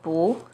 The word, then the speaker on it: 不: When 不 is followed by a non-4th tone, which are the 1st, 2nd, and 3rd tones, it's pronounced as the 4th tone, as in 不知道, 不行, 不好.